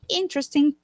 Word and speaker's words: interesting: Recuerda que interesting solo tiene tres sílabas. It only has three syllables. Interesting. Interesting. interesting. Y el acento, exacto. And the stress goes on the first syllable.